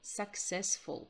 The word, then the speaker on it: successful: Успешный – successful. Будьте внимательны. Смотрите, у нас с вами здесь две буквы «с». Одна читается как «к» – «successful», а другая как «с» – «successful».